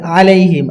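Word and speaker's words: عليهم: আন আমতা আনতা আলাইহিম এটা অনেকজন পড়ি ওয়ালাইহিম ওয়ালাইহিম আমরা অনেকজন পড়ি কিন্তু আসলে এটা ওয়ালাইহিম নয় এটা হবে আলাইহিম আইন আলামহিম এখানে পড়ি কিন্তু আসলে এটা হবে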